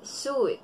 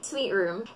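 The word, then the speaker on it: suite room: Ang iba, sasabihin, suit. Ang tamang pagkakabigkas nito ay sweet room. The same na pagkakabigkas ng salita sweet o matamis.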